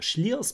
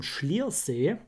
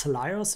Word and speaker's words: Slyrs: Ob das Sliers, ich wollte immer Sliers. Sagen. Es wird wohl aber wirklich Schliers ausgesprochen. Hoffe ich.